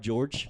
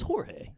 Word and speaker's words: Jorge: with the J, and you hit the hard George. Jorge. It's Jorge. Yeah. Of course, you got to take a liberty, and you got to say Jorge.